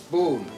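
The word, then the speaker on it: Bohun: Boon. Mr. Boon. He is a stranger to Mrs. Clon, so I may give you a card. If so, the name is spelled B O H U N.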